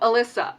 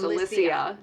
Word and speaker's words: Alysia: Oh, Alyssa. Alysia. It's Alysia. It has um that extra I in there for a reason.